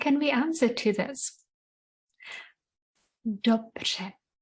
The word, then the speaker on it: dobře: Only a few languages in the world have this sound. Quite difficult. Don't get frustrated if you can't get it straight away. It takes a lot of practice. Dobře.